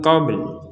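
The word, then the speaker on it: قبل: Tapi huruf lamnya wajib kita ucapkan. Walaupun tidak ada harokatnya. Jadi min qabl. Jadi qob kita baca qob, kemudian setelah itu langsung melafadzkan huruf lam. Min qabl. Jadi lidah kita itu melafadzkan huruf lam tapi tidak ada harokat.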